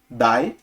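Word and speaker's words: 大: Ele pode ser lido como dai ou pode ser lido como o, né? Por exemplo, o significa grande e dai também significa grande, mas em algumas palavras vai ser pronunciado o e outras palavras vai ser pronunciado dai. Veja que prolonga, né? O, não é o, é o.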